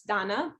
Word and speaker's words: Dana: First of all, not Dana. It's spelled sorry. Like so, no. You said it fine, but just thought I'd clear that up because most people say Dana. So it's Dana, like Mana.